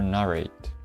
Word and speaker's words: narrate: Is it narrate or narrate? Narrate. Narrate. Narrate. Narrate. So the accent is first syllable.